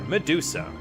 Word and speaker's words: Medusa: Medusa. Here's another name, by the way, where the emphasis is on the first syllable.